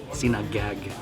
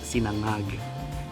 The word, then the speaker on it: sinangag: So if you look at the word Sinangag, it looks like it says Sinangag, right? But it's pronounced Sinangag. The NG sounds like this, ngang, ngang, ngang, right?